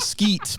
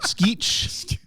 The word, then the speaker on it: Skeech: is Skech Timber Beach it's like like not not like not skeet but skeech not Skeet Ulrich uh